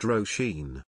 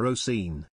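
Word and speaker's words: Róisín: which is I believe Gaelic for little Rose pronounced rosheen our professor insisted on calling her oseen she corrected him multiple times but he'd say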